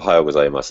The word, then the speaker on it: ohayo gozaimasu: you doing cool nichola ohayo gozaimasu is actually the correct way to say good morning in japanese